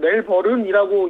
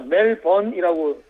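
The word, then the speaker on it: Melbourne: 예, 저는 우리 한국에서는 멜버른이라고 이야기를 하는데 호주에 와 보니까 멜번이라고 발음을 하더라고요.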